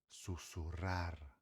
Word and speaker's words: susurrar: aqui tava esquecendo sussurrar no espanhol o r tem duas as duas formas de se falar. Quando tiver dois Rs juntas, tá? Dois R junto, ou quando no começo de uma palavra estiver escrito com R, sempre o som vai ser forte e vibrante. Beleza? É por isso que aqui a gente fala sussurrar. Sussurrar, beleza? Sussurrar. uma palavra com R no